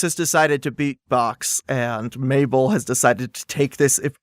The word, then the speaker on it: Mabel: My name is Mabel. It rhymes with table.